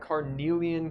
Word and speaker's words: carnelian: is stuffed up cornell carmilla carniel ian yep carnelian color sort of like passion fruity looking colored